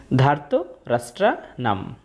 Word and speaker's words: ধার্তরাষ্ট্রাণাং: তবে শব্দের শেষে অনুস্বর থাকলে অর্ধেক ম এর মত একটা সাউন্ড আসে। তাই হবে ধার্ত রাষ্ট্রনাম।